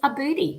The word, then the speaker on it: Aboody: on the screen oh isn't it okay it's a booty which is spelled a b o o d so margaret